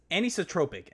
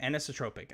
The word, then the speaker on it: anisotropic: up how to say that word a annie's anisotropic anisotropic i think it's how you're supposed to say anisotropic comment tweet at me phonetically spell it out say how say how